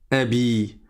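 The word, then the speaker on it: أبي: Comme il y a le ya, tu mets une kassra avant. Ça donne Abi. Abbi, ça veut dire celui-ci est mon père.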